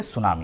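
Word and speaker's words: tsunami: T silent है, टी सुनामी नहीं बोलेंगे, सुनामी, ये सुनामी बोलते हैं।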